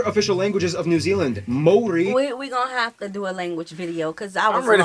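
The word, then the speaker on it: Māori: Korea and Japan yes by the way it's pronounced Mori not mayori Mai they use the New Zealand dollar as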